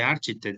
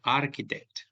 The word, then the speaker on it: architect: Se escribe architect, pero no se dice architect, se dice architect.